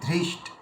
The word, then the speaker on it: ধৃষ্ট: ধৃষ্ট ধৃষ্ট ধৃষ্টত মানে প্রথমে একটু জোর ধৃষ্টত ওটাকে যদি নরমভাবে করি দৃষ্টাকে দৃষ্টা যদি একটু নরম ভাবে করি দৃষ্ট হয়ে যাবে দ এর উচ্চারণ চলে আসবে এজন্য এটা ধ্যান দিতে